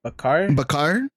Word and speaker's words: Bakar: It's called "Good News" by, I don't know how to pronounce his name. Helsinki? No, it's Bakar. Bakar?